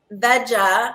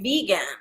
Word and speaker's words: Vega: I guess, being a green, like a green powder, I would think it would be vega, like vegetarian, or vega, like vegan, but it is pronounced vega.